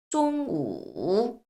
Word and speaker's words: 中午: 그래서 쫑우. 자, 이 발음 너무 중요해요.